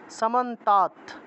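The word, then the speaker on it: সমন্তাৎ: এর নিচে অসন্ত আছে দ এর নিচে অসন্ত থাকলে ততের মত উচ্চারণ করব সামান্তাত ব্যাপ ব্যাপ সংস্থিতা সান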